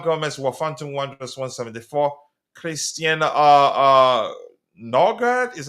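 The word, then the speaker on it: Nørgaard: Christian Norgard, is how you pronounce that, of Brentford, 173.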